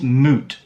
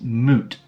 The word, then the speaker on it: moot: with moot point it's moot so imagine a cow moot but when you silence